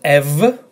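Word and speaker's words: ευ: So instead of A, you pronounce the combination as EV, as in BEV, if the combination is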